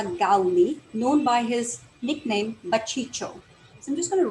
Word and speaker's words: Baciccio: So this is how you pronounce it if you speak Hindi. Baciccio.